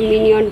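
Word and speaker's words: Minuend: मिन्यूएंट, Singapore में तो मिन्यूएंट बोलते हैं, तो इंडिया का प्रोनाउंसिएशन माइन्यूट बोलते हैं, ओके। जो आपको अच्छा लगता है वही लीजिए।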